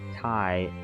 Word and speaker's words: Tai: bougie says jar jar my name is Tai as in oh taii bougie okay all right all right I said your name wrong wrong from the very beginning I said it wrong taii bougie taii bougie all right like Thai food bougie Thai food